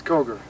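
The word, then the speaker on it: Coger: back before before me does anybody ever call this place cougar by accident well yes yes but you pronounce it Koger Koger see it looks like kogar kogar well it's kogre it's kogre kogre so if I come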